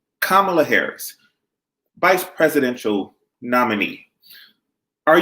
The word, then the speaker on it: Kamala: Kamala, let me say it right because it's comma with a love. Kamala Harris, vice presidential nominee.